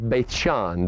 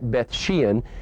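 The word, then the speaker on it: Beit She'an: is the site of beithson that's the hebrew pronunciation we sometimes call it bethshan it's also the site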